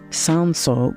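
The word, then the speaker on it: Cinsault: come happy hour it's made from one 100% sanso grapes that's spelled c i n s a u l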